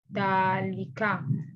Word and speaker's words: ذلك: Note, Dalika is pronounced Dalika, but it's written without the alif.